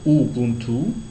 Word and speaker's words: Ubuntu: linguisto culturel plutôt donc Ubuntu on le prononce ouubuntu alors c'est plus qu'un